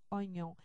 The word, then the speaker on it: oignon: I côte à côte donc la prononciation a été altérée en raison de l'orthographe pour éviter ce problème de lecture le O suivi du I de oignon est en trompeur le i disparaît maintenant oon retrouve une